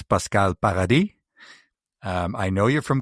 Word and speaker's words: Pascale Paradis: So, I'm already So, I'm going to say your your name is pronounced as Pascal Paradi.